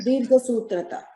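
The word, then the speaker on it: दीर्घसूत्रता: How do you say the Dirgha Sutrata? Sutrata. Yes, that's right. Dirgha Sutrata.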